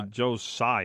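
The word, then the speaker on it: Joe Tsai: how do you say his name Joe Joe Joe sigh as far as I know why I do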